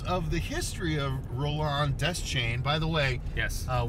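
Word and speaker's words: Deschain: the way yes uh we got a from a viewer saying it's Des Shan not Des chain and I whipped out my Stephen King fuo informed and said no actually uh Fuego just listened to an audio book read by uh Ray himself Stephen King and he said it is death chain so forgive me random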